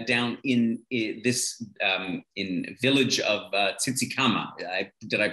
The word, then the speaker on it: Tsitsikamma: We'll be staying down in this village of Tsitsikamma. Did I pronounce that right?